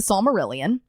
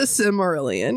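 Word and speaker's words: Silmarillion: But to him, but his comfort movie and his comfort book is the Smurillion. It's the Sylmerelion.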